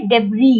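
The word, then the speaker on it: debris: with the डेबी अच्छा यह word है डेबी डी ई बी आर आई एस S silent है डेबी डब्री का मतलब होता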